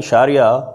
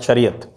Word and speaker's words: Sharia: Wherever you find this A in the end, that is actually the Arabic pronunciation. So if they're writing Sharia, that is an Arabic pronunciation.